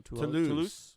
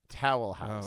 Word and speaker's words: Toulouse: You pronounced Toulouse Towel House.